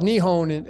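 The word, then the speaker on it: 日本: Well, I mean, it's called Nihon. I mean, that's how you pronounce it in Japanese. Nihon.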